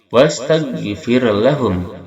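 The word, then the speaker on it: استغفر: Wastaghfir lahum. Wastaghfir ro, yang mana dia sukun, sebelumnya kasroh ditarkikan. Fir tidak diangkat pangkal lisan kita, ditarkikan, bacanya fir lahum.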